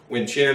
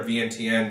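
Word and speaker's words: Vientiane: embassy up and we had chin wind chin or V n TN depending on who you talk to how you pronounce that I always called wind chin basically in in K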